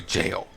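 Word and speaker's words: Gaol: I've seen some that say that it's pronounced literally jail.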